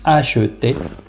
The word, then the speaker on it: acheter: Donc le E se prononce, on dit acheter.